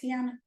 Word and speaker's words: Tiana: name Tiana is it how to say it Tiana yes so she said if